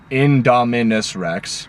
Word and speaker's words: Indominus Rex: The new dinosaur, the Indominus Rex. Well, you probably pronounced it right, but I just wanted to say it clearly. Indominus Rex.